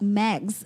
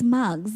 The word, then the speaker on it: Mugs: Fosse and mugs and I pronounced max it's bugs its mugs because it's an a